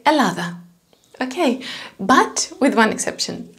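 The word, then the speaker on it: Ελλάδα: about double double consonants normally in greek we pronounce them as one so for example the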